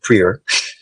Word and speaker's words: Prieur: discussion well I apologize prer is a French Canadian last name so uh on top